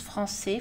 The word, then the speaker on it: français: La cédille permet de conserver la lettre C avec un son S, même avant les voyelles A, O et U. Normalement, C est prononcé Q avant ces trois voyelles.